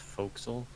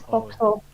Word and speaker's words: forecastle: Isn't it pronounced forecastle? Guess it depends where you're from. It is foxhole.